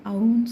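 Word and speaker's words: ஔ: இதுல அவ் வரிசை பார்க்கப்போறோம் இந்த அவ்ங்கிறது வந்து நீண்ட ஓசை உடையது இதை அவ் சொல்லக்கூடாது அவ்வன்னு சொல்லணும் இது எல்லா எழுத்துக்களும் போல 18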